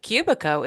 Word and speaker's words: Kubicko: And by the way, Kubico is spelled Kubicko.